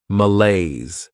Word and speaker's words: malaise: Behavior next is malaise this word has two syllables and the stress is on that second syllable Mala this is not a